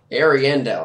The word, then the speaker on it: Ariandel: Ariandel, that's how you pronounce it.